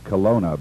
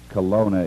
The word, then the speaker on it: Kelowna: contact uh you're very fine business here in Colona British Colombia Colona is about 300 miles west of Vancouver and